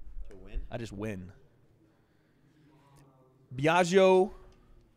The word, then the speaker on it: Biagio: play psychological warfare to win I just win Biagio right I said it right how do we